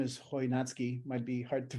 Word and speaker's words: Chojnacki: so so I'm Tom my last name is hoi natsuki might be hard to pronounce but maybe you were wondering um the